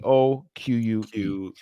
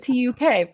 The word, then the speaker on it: toque: TOQUE. Yeah. Yeah. Oh, I thought it was So- TUK for some reason. No, it's that's how it's It's like TOQ.